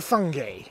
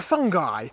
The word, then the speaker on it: fungi: a lot of bacteria it is a fungi or a fungi or a funghi it really doesn't matter how you say it it all means the same thing and we've got a